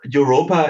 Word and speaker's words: Europa: Europa is the German pronunciation for Europe.